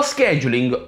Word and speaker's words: scheduling: E quindi è giunta l'ora di parlare di scheduling. Lo scheduling o scheduling, scheduling è, per chi vuole utilizzare la pronuncia britannica, è quella parte del